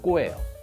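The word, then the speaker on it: 子: 합니다 자녀 역할이라는 건데 이거 일본식 발음은 꼬예요 여기서 부모와 같은 처지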